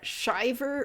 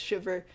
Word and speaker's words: Shyiver: And then uh Shyiver or or rather Shiver. It's it's spelled um Shyiver but pronounced Shiver.